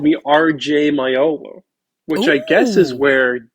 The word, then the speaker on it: Maiolo: Your book has your middle name, so I was going to introduce you as Robert James Maiolo.